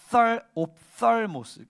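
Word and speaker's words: ὀφθαλμός: 그다음에 눈이라고 할 때 눈은 헬러로 옵살모스, th 발음인데 옵살모스인데 이걸 내가 왜 얘기하냐면 그냥 눈이란 뜻인데, 그러니까 우리는 눈이랑 보다가 다른 단어잖아요, 그죠?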